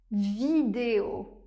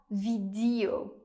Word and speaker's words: vidéo: Par exemple : Élisa, vélo, vidéo. Vidéo et non pas vidio comme je l'entends aussi parfois.